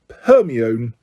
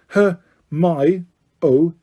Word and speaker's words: Hermione: He kept calling her Herion. Her my oi, she said slowly and clearly.